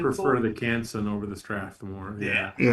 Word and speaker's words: Strathmore: There's uh how do you pronounce this Strathmore? The Stratmore.